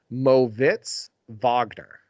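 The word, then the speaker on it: Moritz Wagner: 100% every game this one might surprise you Mo Vagner so I I guess it mortiz Wagner is the way it's spelled but it's his name is pronounced moitz Vagner for the or magic they ISO him a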